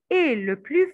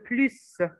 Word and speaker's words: plus: gens qui gagnent le plus ces gens qui gagnent parce que nous avons un verbe on va étudier on va prononcer le s alors c'est des gens qui gagnent le plus mais il travailla plus